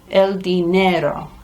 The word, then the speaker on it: dinero: El dinero is money. El dinero, for going down the diner. El dinero.